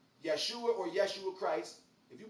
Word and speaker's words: Yeshua: the devil gave him that's not the way you're supposed to say his name yeshua or yeshua christ if